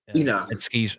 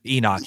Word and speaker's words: Enoch: if I pronounced that right. Enoch. Enoch, yeah.